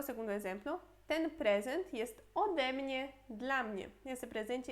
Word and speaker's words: ode mnie: Mas aqui, por exemplo, seria super ruim falar od mnie. Od mnie. Fica muito junto, ruim de pronunciar. Por isso, od virá ode, às vezes.